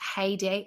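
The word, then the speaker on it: Haydée: I think it's pronounced heyday had because it's got an accent over the e heyday tamara which is obviously where she got the t from I guess bunk Monkey beer.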